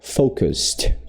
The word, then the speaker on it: focused: Então aqui a gente pula do s para esse outro som. Focused, focused, focused. E é meio que um sonzinho de T, né?